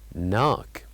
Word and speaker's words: knock: silent letter knock knock so what do you think the silent letter is of course it is letter K knock and then we'll move